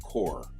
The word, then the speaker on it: Corps: Corps is spelled C-O-R-P-S, and it's a French word. We borrowed it. But it's pronounced core, C-O-R-E.